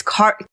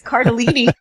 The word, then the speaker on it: Cardellini: Lauren's having I'm the one who's mispronouncing it this week. It's Cardellini.